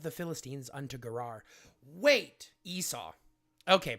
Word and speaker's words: Esau: Wait, Esau. Okay, pronounced Esau.